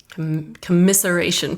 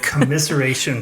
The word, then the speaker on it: commiseration: And they're also too from the celebration side, they're also your commisceration pal. To make sure I said it right, the commiseration pal.